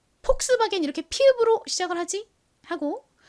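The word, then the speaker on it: Volkswagen: 했듯이 독일식으로 읽는 거죠 독일어에서는이가 비읍 소리가 아니라 거의 읍에 가까운 소리가 난다고 합니다 그리고 또 이더는 원래 영어에서 는 무슨 소리가 나죠 우 소리가 나죠 우 그런데 독일 식으로는이 더블유가 비읍 소리가 난다고 해요가 비소리가 비소리 이렇게 발음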